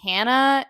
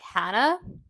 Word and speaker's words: Hannah: Massachusetts I noticed that people when they say my name they have like a certain infliction where they go hand instead of like Hannah Hannah Hannah and I